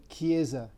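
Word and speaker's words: chiesa: for example uh uh church in english is kiesa in italian and is a c h i e s a so key key is like a proper k or soft k uh the other letter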